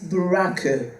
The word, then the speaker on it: Buraku: It's not black, the pronunciation is Buraku. Buraku feminism.